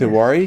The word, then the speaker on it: Tewari: Is it Yes, Tewari? you are right. Bang on. First time, Yeah. All right, first, and then say your last name. It's Tewari.